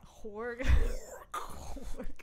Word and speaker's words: Horgh: Horgh. Demonaz. Abbath. That's very good pronunciation.